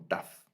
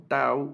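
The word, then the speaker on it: ת: Algunos se refieren a ella como tau, otros como tab por las posibles variantes de pronunciación de la letra, pero yo en el curso me voy a referir a ella más como una letra taf, una letra taf.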